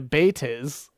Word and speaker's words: Bates: Pena, the most recent author to reference the character, uses the spelling Bates, but alludes to pronunciation closer to baitis because he's a coward.